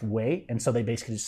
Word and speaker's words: guay: But it's really kind of pronounced way.